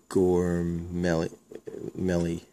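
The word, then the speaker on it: Gormley: Justin Williams Silver Script and a rookie Brandon gorm Meli that's how you say it another Rook Greg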